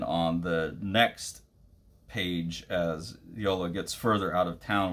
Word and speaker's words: Jola: This is Yola, I believe is how you pronounce the name, even though it's spelled Jola.